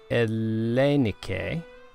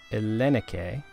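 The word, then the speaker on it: ΕΛΛΗΝΙΚΗ: So this word is Ellenike. Ellenike.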